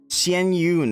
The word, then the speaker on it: Xianyun: call meun in public xen Yun that's how you say it um anyway uh I